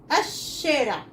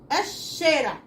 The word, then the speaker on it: الشارع: طب الشين الشارع، الشارع، اللام اتنطقتش.